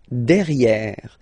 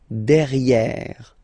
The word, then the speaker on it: derrière: So if you look carefully, you've got here and then double R, so it will open the sound of this and you should pronounce it okay? Derrière. Same thing here. You've got this accent grave, derrière.